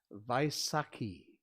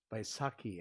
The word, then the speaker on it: Vaisakhi: the sikh faith a happy vaisakhi by saki i believe is how you say it and last but not